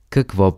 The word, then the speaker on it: какво: In Bulgarian, what do you recommend is Какво препоръчвате? Какво препоръчвате? Let's break it down by syllable.